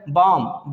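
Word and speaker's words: balm: बाम, बालम पढ़ देते हैं इसको लोग, जो कि गलत साउंड है।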